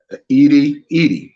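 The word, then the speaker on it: Edey: But maybe Eddie, Ade, what is his name? Eddie, how you pronounce it? Whatever, from Purdue. Edie, that's it.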